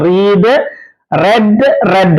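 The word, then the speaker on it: read: ലെറ്റ് റീഡ് റെഡ് റെഡ് ഉച്ചാരണം റീഡിന്റെ ശ്രദ്ധിക്കണേ past ഫോമും പാസ്റ്റ് പാർട്ടിസിപ്പിൾ ഫോം സ്പെല്ലിങ് ഒന്നാണ് പക്ഷേ ഉച്ചാരണം വ്യത്യാസമുണ്ട് റീഡ് റെഡ് റെഡ് എന്നാണ് ഫീഡ് ഫാഡ് ഫാഡ് സ്പീഡ്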